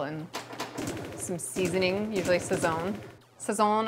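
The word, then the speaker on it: Sazón: Sazon, I've always pronounced that a little weird. Swirls has to correct me. I think I inflected it on the wrong syllable. Sazon.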